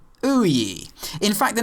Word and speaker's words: OUYA: the somewhat familiar name of OE pronounced o ye in fact the name